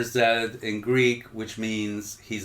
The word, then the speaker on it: Z: The film's title refers to a popular Greek protest slogan, I think it's pronounced Z, meaning he lives, in reference to Lambrakis.